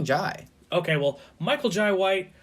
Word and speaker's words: Jai: white i've heard both i think it's john it might be jay because i've heard i've heard like jai courtney the guy who plays captain boomerang yeah yeah yeah that's how you pronounce it so i was like that well so it's probably jai okay well michael jai